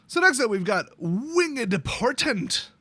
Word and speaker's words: Winged: So, next up, we've got Winged Portent. You gotta 2-syllable it. You gotta do it.